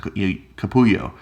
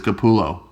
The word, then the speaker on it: Capullo: The double L is the Y sound, Capullo. So I just naturally was pronouncing that. And he's like, dude, it's Capullo.